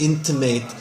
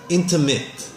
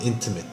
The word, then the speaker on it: intimate: I think you said into mate I think it's just pronunciation wise intimate the a is not a long a sound it's almost like an IP sound intimate intimate it sounded like